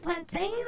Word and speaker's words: plantain: The tang in plantain is pronounced like plane. Oh, it's plant uh plant plane plantain or plant.